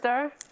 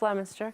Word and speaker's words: Leominster: what's this slide we're looking at projects everywhere lemster just lemonster can we go to the next sure we